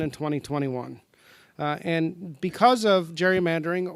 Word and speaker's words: gerrymandering: and because of gerrymandering or a senator Rose likes to remind me every single time I say it gerrymandering which is the proper way to say it but I'm going with the popular way because of gerrymandering the